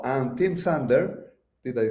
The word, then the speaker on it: Sander: the Y and Tim sander did I say that right that's right no s at the end so I'm I'm proud